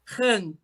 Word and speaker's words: Han: Como que pronuncia o seu sobrenome? Han.